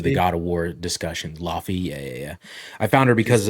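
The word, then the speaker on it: Laufey: I also found this I guess it's pronounced Lave girl, but it's spelled Lafe, I found her because of the God of War discussions. Laffy, yeah.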